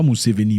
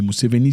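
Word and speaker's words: Museveni: liste d'AGA moussei pas mouseveni mouseveni c'est en français mouseveni mouseveni faut pas franciser les nom c'est pas bien gardez votre nom authentique comme prononcé chez vous pas mouseveni non mouseveni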